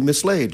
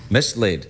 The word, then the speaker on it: mislaid: No, the word has two syllables, one of which is laid.